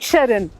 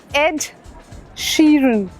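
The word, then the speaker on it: Ed Sheeran: एड शरन शरन नहीं है वो शेरन भी नहीं है वो एड शरन एड शरन मतलब इतने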